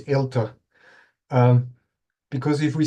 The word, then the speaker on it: eLTER: shared correct perfect okay uh so first U pronunciation it's elter um because if we say e elter it would imply an e infrastructure focusing on